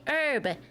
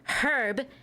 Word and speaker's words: herb: You say herb, not herb because there's the H is silent. because it's a French word.